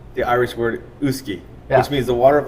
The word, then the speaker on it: uisce: whiskey all of us call whiskey cuz we mispronounced the Irish word uski which means the Water of Life it was